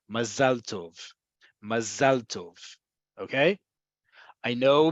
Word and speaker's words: mazal tov: ethnicity, Ashkenazi, Sfaradi, Mizrahi, mazal tov. It's really important. Again, emphasis is on the last syllable, mazal.